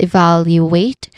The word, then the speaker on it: evaluate: we start, of course, with evaluate, which has four syllables, but the stress is on the second syllable. We start with the first syllable e, which has a short e vowel sound. Very simple. The second syllable is vow, which has a short a vowel sound. It is not totally short because the vowel sound is held a little bit longer.